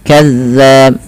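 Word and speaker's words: كذاب: Bagaimana cara pelafalan zal? Zal itu ujung lidah kita, ujung lidah menempel dengan gigi sari atas kita, maka za bukan za gitu ya. Kemudian sahirun kazzab.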